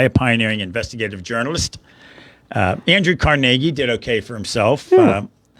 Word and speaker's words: Carnegie: Has the big hall named after him in New York, and they mispronounce it on purpose because they're so highfalutin in New York. Carnegie. Yeah, it's Carnegie. They're ridiculous.